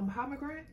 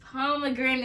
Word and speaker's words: pomegranate: A pomegrant? Yeah. A pomegranate. I've tasted a pomegranate. It's pomegranate is how you say it.